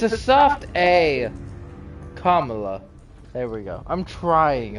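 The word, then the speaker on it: Kamala: I mess that up every single time yes Camila Harris you s like five different ways five different ways I feel like everyone pronounces it five different ways on TV Camila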